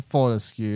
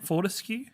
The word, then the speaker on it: Fortescue: say his name wrong what's his real name isn't it Fortescue no I can't help